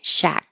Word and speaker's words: Shaq: It's also the way Shaquille O'Neal pronounces his nickname, Shaq.